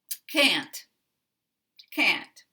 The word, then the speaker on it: can't: We keep the same vowel as the dictionary. Can't, can't.